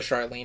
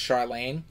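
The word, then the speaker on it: Charlaine: I believe I called her Charlene in my TBR, and I apologize, but I think it's pronounced Charlene.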